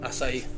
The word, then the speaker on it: Açaí: What rhymes with IC? How do you say it? Açaí.